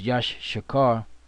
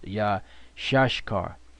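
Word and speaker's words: Issachar: now isar is yashar which we used to think it was Yash shakar which is not the the proper way to pronounce it which Elder toar brought out is yah shashar yah shashar because yashar means he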